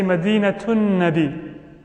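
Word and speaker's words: مدينة النبي: If it had been just like this, you could have said Medina. But now that it's connected and you're always saying them together, you will say Madinatun Nabi.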